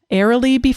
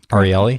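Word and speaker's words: Ariely: may have heard of Dan ery be I'm not sure I'm pronouncing his last name arieli arieli there we go I knew I wasn't doing it right uh they they invited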